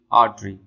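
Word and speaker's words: artery: जब हम British pronunciation करेंगे तो उसमें ये जो आर है ये साइलेंट होगा, हम इसको पढ़ेंगे आर्टरी। हाउएवर जब आप इसको अमेरिकन प्रोनाउंसिएशन करेंगे तो आर को थोड़ा सा साउंड देना पड़ता है, आर्टरी, आर्टरी उसको पढ़ते हैं।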